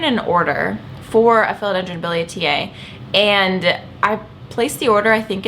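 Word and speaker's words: billietiae: Yes, I've always pronounced it biliaceae, but I think it's biliaceae.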